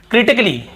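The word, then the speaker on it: critically: नहीं पढ़ रहे हैं फिर देखिए क्रिटिकली क्या होता है क्रिटिकली यहां पर भी एक का उच्चारण नहीं हो रहा है और फिर देखिए रोमांटिकली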